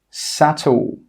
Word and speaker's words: subtle: The second rule with B is that B is normally not pronounced when it comes before the letter T. Some common examples are debt, subtle, doubt. Again, you can see here that we're not pronouncing the B in all of these words.